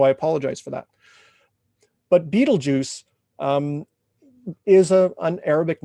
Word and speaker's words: Betelgeuse: This star is called Betelgeuse, or Betelgeuse, if you pronounce it properly in Arabic, but everybody calls it Betelgeuse.